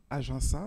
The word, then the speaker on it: Ajinça: comme a été dit je m'appelle agen sein c'est la prononciation normal mais vous inquiétez pas